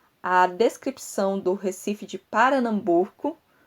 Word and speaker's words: Paranambuco: descrição do Recife de Paranambuco. Eu não falei errado, é Paranambuco, que é Pernambuco, mas é assim que se pronuncia, assim como se está na versão que eu encontrei da obra.